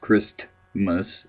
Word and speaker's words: Christmas: personally uh because it's Christmas with a the tus sound should be in there the t uh should be in there if you're going to say it at all please say it right uh it's kind of